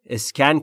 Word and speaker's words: scan: The detective, اون بازرسه, scanned, scan کرد. ما تو فارسی میگیم اسکن, اما تلفظ درستش در انگلیسی scan, scan, scanned, گذشته فعل scan یعنی اسکن کردن.